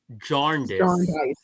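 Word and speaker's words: Jarndyce: Yeah, that's what I kept saying and both audio book both audiobook narrators I had pronounced it the same way. They did not pronounce the R.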